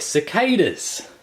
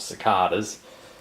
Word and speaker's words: cicadas: They're cicadas, or cicadas, depending if you want to pronounce it like my grandfather once did.